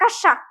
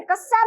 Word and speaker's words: कक्षा: कक्षा। क्या बोलते हैं? कक्षा। अब पढ़ाते हैं तो कहीं कस्सा में देखो बच्चों, कस्सा में आ गए क्या, वो ऐसे बोलते।